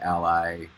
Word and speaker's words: a11y: I've heard it pronounced every way, like A11Y, ally, accessibility.